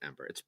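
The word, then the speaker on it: Æmber: I pronounce it Ember. It's spelled AEMBER, and some people pronounce it Amber. Some people pronounce it Ember. It's the same thing. I'm in house Amber. I'm definitely Ember. I mean, if you think about how ether or aether is pronounced, it could be Amber.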